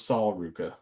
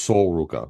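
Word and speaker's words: Sol Ruka: I thought it was Saul Ruka. No, it's Soul. Sol. It's pronounced Soul Ruka.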